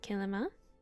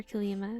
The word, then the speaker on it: Kilima: Then you want to leave and go back to Kilima. Or Kilima. I think I've heard people pronounce it both.